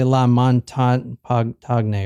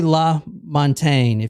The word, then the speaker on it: La Montaine: l Montaine cuz I keep want to say l mon to or something but this is J this is La Montaine short dark hair light